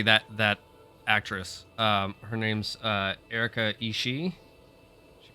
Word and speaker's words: Ishii: She pronounces it Ishii, which I think is probably a reference to Kill Bill. But that's not how you pronounce it. Oh, two I's in Japanese just makes the I sound longer.